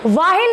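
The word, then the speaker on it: while: बिल्कुल सही सुना, वाइल नहीं बोलते हैं, वाइल बोलते हैं, एच साइलेंट रहता है।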